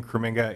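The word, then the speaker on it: Krominga: you madam chair uh my name is creminga it's k-r-o-m-i-n-g-a um i'm the executive director at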